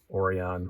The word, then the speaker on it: Orion: logo on it um orion orion orion orion brian say that it rhymes with your name why do you keep